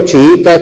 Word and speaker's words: chiita: Palabras del tipo chiita, chiismo tienen 3 sílabas.